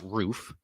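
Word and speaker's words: RUF: what a roof is and it is pronounced roof um they are a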